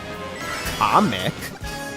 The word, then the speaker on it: Kamek: Kamek. Comic? Wait, it's pronounced comic?